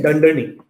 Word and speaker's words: dunder name: The way you would pronounce this is you would say dunder name.